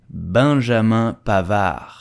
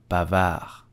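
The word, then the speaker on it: Pavard: we will simply say pavar pavar Ma the D at the end is totally silent so do not pronounce it and just say did you know that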